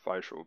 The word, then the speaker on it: Fischl: to be Zhongling and Fischl. Or Fischl, if that's how they say it in English. Oh yeah. I mean, I think the proper German way would probably be more of Fischl, but yeah.